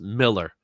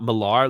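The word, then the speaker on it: Millar: from it's from and McNiven and yes it's pronounced Miller he pronounced it Miller it's not marar like a lot of people think it is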